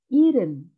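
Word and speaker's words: 일흔: Sun Yi Sun 70 tulisannya Ilham tapi cara bacanya Irene Irene Irene 80 nodens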